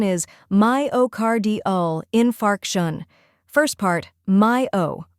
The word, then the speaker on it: myocardial infarction: Third part, infarction, emphasize the fark part, like park. When you put it all together, myocardial infarction. Now let's practice together. Repeat after me, myocardial infarction. One more time, slowly, myocardial infarction.